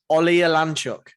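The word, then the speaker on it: Oleksiejczuk: Oleolanchuk. That's fantastic. Thank you. Fantastic pronunciation.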